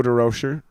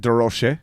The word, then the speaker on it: De Rocher: it that is actually oh french pronunciation yeah some somewhere in the line it got changed to the american version or derozan you know and how